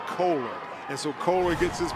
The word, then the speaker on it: Kohler: Talked to that young man's parents before the game, and they said it's pronounced Kohler.